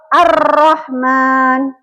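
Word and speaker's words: ar-Rahman: di sini ada contoh Arrahman ya lamnya tidak dibaca lanjut langsung ke huruf berikutnya huruf ro contoh yang kedua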